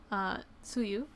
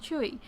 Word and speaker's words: Tzuyu: my sister and I will just call her Tzuyu. But then we realized when we watched a couple of Twice shows, we realized that her name is actually pronounced Chewy, or something along those lines.